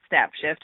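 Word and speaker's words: Snapshyft: little bit more about snap shift and like you said it's spelled with a y in the word shift so s n a p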